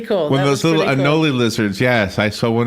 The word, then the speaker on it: anole: One of those little anole lizards. Yes, I saw one in my porch. As a matter of fact. Okay. Anole? Am I saying it right? Yeah, anole. Yeah.